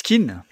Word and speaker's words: Kean: Enfin, Ken, faut dire, je crois, maintenant, il me semble. Oui, j'ai l'impression que ça tend de plus en plus vers la prononciation de l'attaquant anglais, en fait. C'est plus du... Alors, il n'y a pas le Hey, mais c'est Ken, quoi.